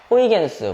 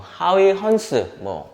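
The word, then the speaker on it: Huygens: 그래서 입자라고 주장했던 사람은 뉴턴이고 파동이라고 주장했던 사람은 호이겐스, 하위 헌스, 네덜란드식 발음으로 그렇게 되는데요.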